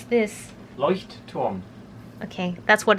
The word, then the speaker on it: Leuchtturm: Tobias, how do you pronounce this? Leuchtturm.